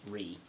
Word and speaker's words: Ruighe: hence the name uh also the pronunciation re it's spelled r-u-i-g-h-e region um because gallic likes